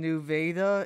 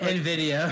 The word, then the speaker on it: Nvidia: the chip makers on new Veda if you pronounce it Nvidia Nvidia thank you and